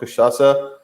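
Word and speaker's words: cachaça: josie it is the how you pronounce is called kashasa uh yeah man i've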